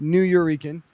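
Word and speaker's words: Nuyorican: Um he is the host um of the legendary New Eurekan and that is a combination of New Yorker and Puerto Rican. Um it is pronounced New Euran.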